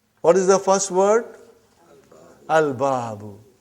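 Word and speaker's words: البَابُ: Al-babu. Is it moon letter or sun letter? Moon letter. You did pronounce lam.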